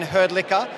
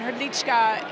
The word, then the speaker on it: Hrdlička: So Herdlicker is right, but that's not the natural pronunciation of my name. My background's Czech, and Hrdlička is the appropriate...